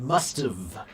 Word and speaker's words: must've: Help you with the pronunciation of the contraction should have, should've, and must have, must've.